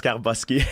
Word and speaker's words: Skarbowsky: Skarbowski? Jean-Charles Skarbowski.